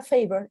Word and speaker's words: favor: por ejemplo miren acá la palabra favor en inglés tiene dos sílabas la primera termina en una a y está miren no la puedo pronunciar como la en español esas de no son nido de diptongo suena e i como está aquí en la tabla Miren la siguiente esta